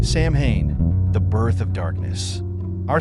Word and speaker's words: Samhain: where the Celts celebrated their festival of Samhain, pronounced Samhain.